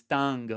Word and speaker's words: tang: And as always, it's important that when you have a phrase that is tang or ding, that you really pronounce all 3 components. In this case, ta, n, g, all 3.